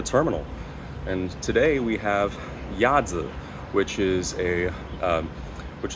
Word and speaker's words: Yazi: this space for a while uh that is yza though you can pronounce it totally okay if you can pronounce it a yazzi it is the uh a Chinese word that